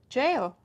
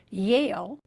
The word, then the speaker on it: Yale: to either Harvard or jail in this example the student mispronounced the first sound in the word Yale the name of a university and that mistake changed the word to jail a word that means